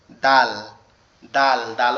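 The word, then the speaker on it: د: এবং হা এবং খ এর পরে একটা নোক্তা আছে, সেটা হচ্ছে কি দাল, দাল। দাল অক্ষরটা আবার আমাদের জিহ্বার আগা সামনের দুই দাঁতের গোড়ার সঙ্গে লাগবে, লেগে উচ্চারিত হবে দাল, দাল, দাল।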